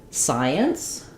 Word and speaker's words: science: So a good example for that would be the word science. If I'm saying the word science, it has two syllables. Science. Science with the sigh being stressed.